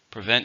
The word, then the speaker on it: prevent: Prevent means stop something from happening, and it's a verb. How many syllables in prevent? 2 stresses on the second.